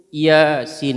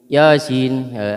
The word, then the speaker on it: Yasin: Nah, ini bacaannya itu Yasin, itu ya-nya itu mad tabi'i, sinnya itu mad yang panjang. Biasanya 4 harokat atau 5 harokat. Ya, jadi dibedakan bacanya. Jangan begini, jangan Yasin atau Yasin. Jangan begitu. Bukan begitu bacanya, tapi ya-nya itu cukup 2 harokat. Yasin. Nah, gitu. Sinnya yang panjang.